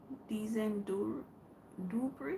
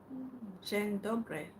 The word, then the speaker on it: Dzień dobry: Dizen Dubri. I hope. No, I can't speak. I can't. I can't speak Polish. I'm just reading what you wrote. Just reading what you wrote. Dzień dobry. Oh, dzień dobry. Ah, that's what Google said it pronounced.